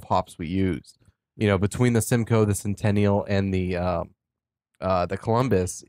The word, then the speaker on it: Simcoe: The Simcoe, it's pronounced Simcoe-ness? Simcoe. Or Simcoe O-U-S? Yeah, just Simcoe. Simcoe?